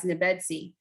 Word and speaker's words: Nebedsi: I was just kind of curious how many people knew the name or how to pronounce it, but we refer to it as Nebedsi.